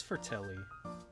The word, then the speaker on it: Fratelli: is Fratelli. So it's pronounced as E.